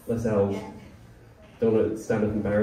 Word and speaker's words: Lascelles: I meant to ask you beforehand, I was like, Lascelles. Yeah. Don't want to stand up embarrassingly pronouncing the name wrong.